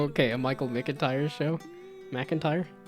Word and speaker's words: McIntyre: McIntyre? I always want to do Mick. MC looks more like Mick than Mac, but a Michael McIntyre show.